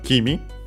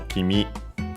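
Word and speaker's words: 君: First and foremost, we have uh Kimi uh which is a pronoun uh second person singular actually an accent. So Kimi uh and so yeah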